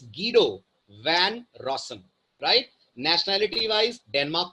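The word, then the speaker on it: Guido van Rossum: not pronounced as गुडो his name is गडो one Roshan right nationality wise Denmark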